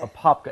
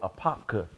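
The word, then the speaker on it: Apopka: Springs AA right okay a popka and you got to say it right go a popka a popka a popka we're in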